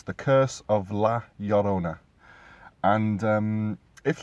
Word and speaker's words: Llorona: So, from an English point of view, it would sound like Llorona. But for those who know a little bit of Spanish, two L's together basically means a Y sound.